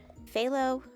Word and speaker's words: phthalo: sky with some phthalo phthalo that's how you say it phthalo i call it phyllo isn't that what bob ross says phthalo blue so a